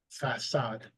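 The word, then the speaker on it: façade: The cedille serves to indicate that one must not pronounce k, but rather s or s. So, for example, sava, facade.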